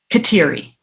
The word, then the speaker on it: Kateri: specifically Catherine of Siena in English we pronounce that Mohawk name katiri and then of on